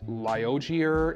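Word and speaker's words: Liogier: a little more expensive i'm not sure how to pronounce this name it's liogear it's spelled l-i-o-g-i-e-r every single one of these little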